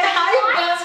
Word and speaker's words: Ray-Ban: Lembra o nosso R de novo, que a gente fala high, eles falam ra, né?